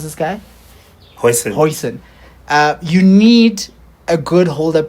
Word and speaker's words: Huijsen: He's playing against Virgil and how do you pronounce this guy? Huijsen.